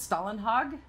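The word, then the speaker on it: Stålenhag: Swedish artist named Simon is it Stalin hog how do you say his name that's correct no you did it that's great he had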